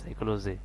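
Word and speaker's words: psychology: দেখেন এখানে পি এর উচ্চারণটা সাইলেন্ট থেকে এখানে আসছে এস ওয়াই, সাই সি এস ও, সাইকো এল ও জি ওয়াই, সাইকোলজি, অর্থাৎ এখানে পি এর উচ্চারণটা আসে নাই।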